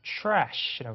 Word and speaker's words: trash: trash라고 하시면 됩니다. 그죠? TR은 TH 사운드로 바뀐다 생각하시면 돼요. 그래서 촤 사운드요.